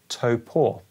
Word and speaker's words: Topo: but no seriously uh apparently you pronounce it as Topo like a toe and a poor toe poor there we go you could probably